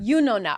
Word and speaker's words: Yunona: Yunona. I always try to pronounce it.